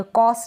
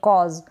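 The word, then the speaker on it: cause: जो है एस इ इसको स नहीं पढ़ेंगे कॉस नहीं पढ़ेंगे कॉज आपको ध्यान रखना है य ज के नीचे एक बिंदी भी लगेगी तो कॉज भी नहीं पढ़ेंगे कॉज पढ़ेंगे यहां बिंदी मैंने नहीं लगाई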